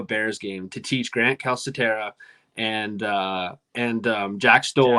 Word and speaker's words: Calcaterra: I like Grant Calcaterra. You pronounce the C, or is it soft? Calca, right? Calcaterra, yeah.